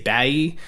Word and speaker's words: Bayeee: And then the second half, the Bayeee or Bayeee, however you want to say it, there's no correct way to say it. I usually say Bayeee because I don't like it to sound necessarily like Captain Bay, like the whole Bay thing, BAE.